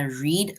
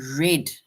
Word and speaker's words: read: is ran read right when it comes to read the word basically stays the same it's just the pronunciation of the word it changes because we say I read a book today yesterday I read a book right so which means that the pronunciation of the word changes but the spelling stays the same I see something